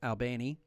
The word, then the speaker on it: Albany: Albany Columbus in south Georgia it's called It's pronounced Albany yes it is South Carolina Florence Beaufort South